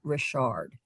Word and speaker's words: Richard: He It was spelled like the name Richard, but he pronounced it Rashard.